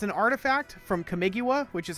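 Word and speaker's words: Kamigawa: around Oni cult Anvil it's an artifact from camigua which is how you pronounce that whenever one or more artifacts you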